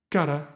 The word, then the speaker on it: cara: The sound is r, no r. So cara would be the right pronunciation here.